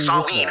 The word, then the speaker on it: Samhain: Sorry if I say Sam Hain and people go, it's Samhain. I heard it in Halloween too, if anyone has ever seen it, and Loomis says Sam Hain, so that's what I thought it was, and it's spelled the same way.